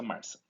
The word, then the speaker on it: MRSA: Então, a gente reserva essas três no caso de Staphylo aureus resistente à meticilina, que é essa sigla MRSA que a gente pronuncia Marsa.